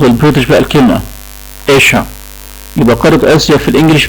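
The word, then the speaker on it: Asia: ده كده نطق البريتش، ده نطق البريتش بقى الكلمة إيشا.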